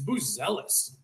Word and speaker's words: Buzelis: And now I look like a big ass hat where Modis is like, "Dude, it's Boozel.